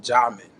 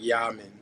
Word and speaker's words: Jamen: And so, in a spiritual way, you would pronounce my name Jamin. And so we all know what Jah is, and so it's like Yamin. And or as they would say in Brazil, Hamin or Hamin or Hamin.